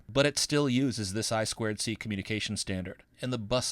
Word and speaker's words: I2C: boards the i2c that you see here is pronounced i squ c it's a communication standard for connecting peripherals to